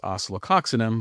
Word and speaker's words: Oscillococcinum: So, a good sum up and I pronounce it as oceloxinum, but uh as as one of the popular ones.